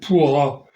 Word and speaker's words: pur: Et le mot pourra, pour, parce qu'il ne prononce plus le A qui termine le mot, euh, euh, actuellement veut dire ville.